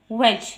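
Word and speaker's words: wedge: है फिर नेक्स्ट है वेज यानी खाना व ए डी जी ए डी जो है वो इसमें साइलेंट है इट इस यूज्ड तू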